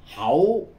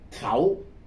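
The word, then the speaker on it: 口: cái miệng vậy thì người Quảng Đông thì đọc là hậu còn người quan thoại thì đọc là khù còn người Việt mà chúng ta đọc theo âm Hán thì là khẩu người qua Quảng Đông là hẩu người quan thội là khồ đó là đặc điểm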